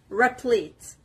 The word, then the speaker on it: replete: The stress is on the P, replete.